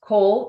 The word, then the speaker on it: Coale: Go to the Cole and my last name is spelled C O A L E Network Marketing YouTube page and hit subscribe.